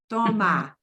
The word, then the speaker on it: toma: Toma. Drop your jaw. Toma. Toma. That schwa thing from English creeps in. It will grab you and mess up your pronunciation.